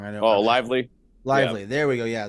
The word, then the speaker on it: Lively: of their players I think it was like Levy Levi the second or I'm not I'm getting his name wrong I know oh Lively Lively there we go yeah that's that's definitely